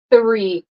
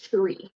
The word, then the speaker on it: three: out okay so um three no vibration tongue between your cheeks three three and it's not Tre okay and I will